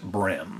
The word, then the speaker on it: bream: So it's spelled Bream, but it's pronounced Brim.